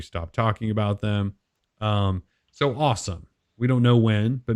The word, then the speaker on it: OSOM: to assume it's pronounced awesome. Yeah. So OSOM. And we're going to just pronounce that awesome because that's how they've sort of referred to it.